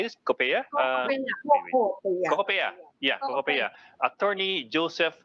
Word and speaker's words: COCOPEA: COCOPEA?